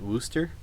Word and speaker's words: Worcester: you pronounce that Niels do you pronounce that Wooster like the sauce I'm so confused on